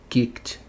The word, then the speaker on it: kicked: Esse CK aqui no final faz que som? Kick, kick. Só se usa a boca para fazer esse som. Então é o terceiro caso. Kicked. Kicked. Estranho, né? Mas sim, é dessa forma.